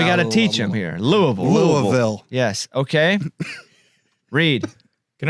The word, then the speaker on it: Louisville: uh go ahead Casey I'm gonna go with Louisville that's good that's not how you say it Louisville we're not New York if you're yeah Louisville